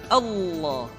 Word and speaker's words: Allah: sebelumnya yang ketiga adalah pengucapan lafaz Allah lafaz Allah di manapun kapanpun maka lam yang terdapat pada lafz jalalah tersebut mesti ditebalkan Allah rasulah kecuali kalau lafaz